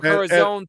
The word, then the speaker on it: El Corazon: We're getting together, Seattle, Washington, 2 weeks from tonight on the 15th at the El Corazon, right? Is that how you say it? Corazon, yeah. El Corazon Theater.